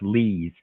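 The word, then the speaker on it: Lies: L-I-E-S, and somehow it's pronounced Lees.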